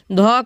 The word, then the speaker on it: ध: ध का उच्चारण देखिए, ध दंत से बोला जाता है ना, तो सी राइट आंसर हो जाएगा।